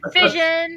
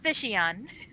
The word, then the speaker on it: Fission: And I'm like, oh, so it is pronounced Fission, not Fishion.